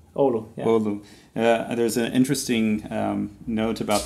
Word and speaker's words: Oulu: And so the name of the town where you're born, how do you pronounce that? Oulu. Oulu, yeah. Oulu.